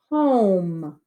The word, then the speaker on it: Home: Home. Right now that says hum. Hum. We need to make it home.